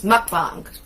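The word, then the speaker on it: 먹방: a japanese word actually it's mukbang it's really how it's pronounced but what's it mean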